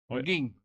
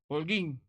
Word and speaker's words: Holguín: Holguín.